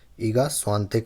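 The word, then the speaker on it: Iga Świątek: तो उसका आंसर होगा ईगा सुया टक ऐसा स्पेलिंग है इसका इसको इगा स्वातिक पढ़ते हैं ठीक है स्वातिक तो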